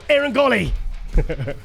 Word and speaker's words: Eiren Gauley: I'm joined all the way from extremely sunny Toronto, Eiren Gauley. Yes. It worked. You pronounced it right.